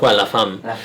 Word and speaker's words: La Femme: The pronunciation is La Femme.